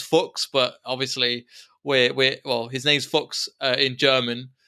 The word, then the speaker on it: Fuchs: pun out of something, you've got Cock versus Fuchs. So you could definitely do something with that. You could definitely do something with that. Because I was like, because his name's Fuchs, but obviously his name's Fuchs in German.